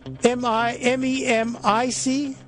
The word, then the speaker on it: MEMC: MEMIC. MEMC. Yeah, Memic. Okay, I always wondered how you pronounced it.